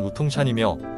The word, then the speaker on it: 우통산: 조밀하게 분포되어 있습니다 오동산은 중국발음으로는 무통찬이며 우리나라 특산종으로서 이름의 한국이